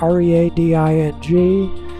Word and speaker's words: Reading: I was born in Reading. That's uh re a d i n g. We pronounce it Reading and uh a little hospital there is that's where we're starting off from Reading.